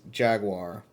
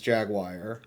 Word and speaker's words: jaguar: So as it is written, the American English pronunciation is jaguar, and the British English pronunciation is jagwire.